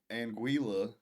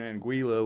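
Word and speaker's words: Anguilla: Chad sty I don't are the L's silent no one knows she says she said that they're not silent the West Indies actually in anguila beautiful I was in anguila which is part of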